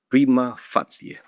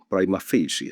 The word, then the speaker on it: prima facie: The correct Latin pronunciation is prima fatsia, prima fatsia. prima facie, especially American lawyers. And this is what we call Anglicized Latin pronunciation. Pero in modern times, acceptable na rin ito.